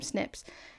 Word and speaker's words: SNP: there are specific snips they're snps but we pronounce some snips and each individual snip